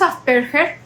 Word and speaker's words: Asperger: Bueno, en realidad este no es el libro del holocausto, se llama Hans Asperger. Me metí a ver cómo se pronunciaba. Se dice asperger en alemán, que un lo entendí